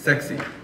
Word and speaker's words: SECSI: So SECSI, if you put it together and you pronounce it, it's sexy.